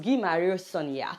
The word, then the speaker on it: Guy Marius Sagna: This is the way it's written, but it's pronounced Guy Marius Sagna.